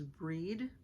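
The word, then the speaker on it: Brigit: her name is b-r-i-g-i-t how you pronounce it celtically is breed b-r-e-e-d don't spell it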